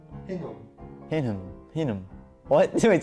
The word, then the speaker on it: Hingham: It is pronounced Hingham.